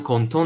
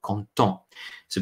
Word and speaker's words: contents: at the end of content. So because we're saying we are happy, we say nous sommes contents. The pronunciation, though, is the same if it were content with an S or content without an S.